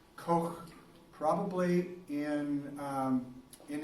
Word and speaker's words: Koch: it like you know in German they kind of clear your throat a little bit when you're going you know some people pronounce a Koch there is you know lots of different pronunciation once kind of more of the American English pronunciation the other ones probably more of the German pronunciation anyway he came up